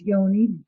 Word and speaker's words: Yoni: um there you are Yanni welcome to UK Cinema history am I pronouncing your name correctly it's Yoni uh close enough um it